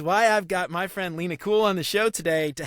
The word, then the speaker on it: Lena Kul: Did I pronounce it correctly? Yes. Cool. All right, cool. Sweet. All right. Lena Kul has been a guiding force for many designers throughout their careers.